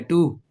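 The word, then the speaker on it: two: और ये तो आपका जाना बचाना ही है ना, इस पे तो मानेंगे ना कि W साइलेंट ही है। टू, TO2, तो टू का मतलब आपको पता ही है।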